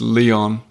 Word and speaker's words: Lyon: a tricky one because in French it's Y in English it's Leon yeah same with Paris and Perry I think we stick